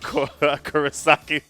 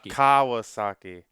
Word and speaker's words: Kawasaki: The Chef Kurosaki. Wait, if I say his name right? Kawasaki? Kawasaki.